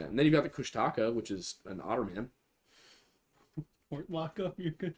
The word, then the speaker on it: Kushtaka: And then you've got the Kushtaka, which is an otterman. You're I think it's actually Kushtaka. I was I was told. Ah, I've been pronouncing it wrong.